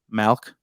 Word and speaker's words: milk: pronounce m-i-l-k I mean milk no some people say milk others it's like an e sound mount in Michigan a lot of people do the e sound like elk milk dessert I mean so